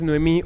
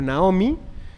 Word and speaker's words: Noemí: Ese es el nombre tal cual, que generalmente la pronunciación también es Noemí o Naomi.